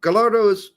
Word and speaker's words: Gallardo: maybe maybe h g gardos pronounced like tortillas a why sound nothing an L gardo hey still working